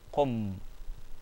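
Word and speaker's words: قم: So qu joined to m, we get qum.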